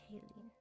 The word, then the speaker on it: Kalian: Kalian, that's how you say it.